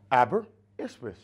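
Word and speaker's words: Aberystwyth: Oh, abberwith.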